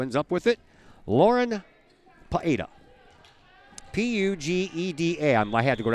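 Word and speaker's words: Pugeda: rotation and who ends up with it lauren paeda p-u-g-e-d-a i had to go out and ask the coach how do you pronounce that sends it over and picked up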